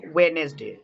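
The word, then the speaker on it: Wednesday: এখানে দেখো ওয়েনেসডে, এখানে ওয়েনেসডে, এখানে কি আছে, ডি এন আছে, তাই এখানে ডিটা সাইলেন্ট।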